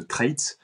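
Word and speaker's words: Treitz: a un ligament qui s'appelle le ligament de trit euh ça s'écrit T e i TZ qui relie directement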